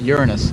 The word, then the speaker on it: Uranus: The planet is pronounced Uranus.